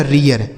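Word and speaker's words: rear: आर से र, इस ई ए के बाद आर है तो इसका उच्चारण ईय, जैसे पढ़ेंगे रीय, इसके बाद आर से हो गया र, यह लिखा गया रियर।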